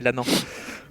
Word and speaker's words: Lannan: On a eu un membre de sa famille tout à l'heure qui est venu nous voir, on prononçait Lanen et c'est Lannan.